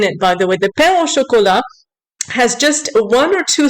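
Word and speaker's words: pain: morce Christi is pronounced and P is pronounced P chocolate bread not Pano Chola or poo Chola however you say it you're so proud to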